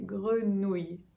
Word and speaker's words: grenouille: La deuxième partie, nous, comme nous, grenou, et enfin, y.